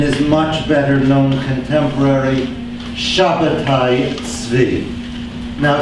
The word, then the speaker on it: Shabbatai Tzvi: much better known contemporary Shabbatai Tzvi. Now, Shabbatai Tzvi is the Hebrew pronunciation of the first name there. I myself prefer to use it. It's conventionally transliterated as Sabbatai Zevi.